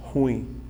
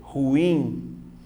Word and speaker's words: ruim: No dia a dia, como nós fazemos? Ruim. Ou seja, você teria uma sílaba só. Só que essa pronúncia está errada. Como você tem que fazer? Ruim. Veja que a sílaba tônica cai aqui, ó. Eu tenho 2 sílabas, ó.